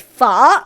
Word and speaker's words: Pho: we're going to make foe a classic French Vietnamese dish it's not foe it's F it's not foe like faux fur already Jamies Oliver bro